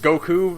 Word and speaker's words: Goku: like it's you know he pronounce it Goku like you would in Japan like with the emphasis on the on the U right it's great and